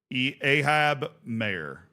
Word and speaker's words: Ahab Mayer: Ahab Mayer. The E is silent. Well, then why is it there?